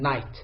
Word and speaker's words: night: letter is silent in night route is it G H or G H which one is correct the correct pronunciation of this word is night so the two silent letter R G and age let's move to sentence